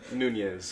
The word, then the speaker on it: Nunez: Nunez.